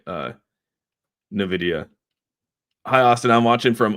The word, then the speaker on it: Nvidia: everyone off now uh is pronounced Nvidia which is the Spanish word for Envy uh dip had me